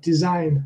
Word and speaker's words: design: They tend to have the stress on the second syllable. Take, for example, if you think of design not as a noun but as a verb, then design, that's typical.